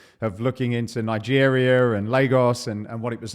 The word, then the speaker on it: Lagos: Exact same spelling, but Lagos. It's like Lagos. Lay and Gos.